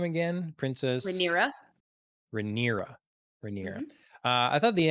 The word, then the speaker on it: Rhaenyra: Rhaenyra.